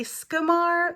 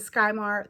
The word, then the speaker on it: Skymar: we have Mar and I say scumar but some people have pronounced it skymar that's fine too because the first word is Sky and so if you